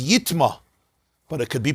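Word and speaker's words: יטמא: But when it says yitma, even though it says yitma and you pronounce it yitma, but remember, Sefer Torah has no nekudus, so it lends itself to be pronounced also as yitame.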